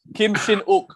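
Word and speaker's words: Kim Shin-wook: pronunciation of his name kim shin ook we don't say the w correct kim shin ook kim shinoku is that right yeah yes yes so the w is silent right yeah many people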